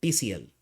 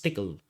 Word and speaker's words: Tcl: in tickle also called some people call TCL but it's generally pronounced as tickle you normally use this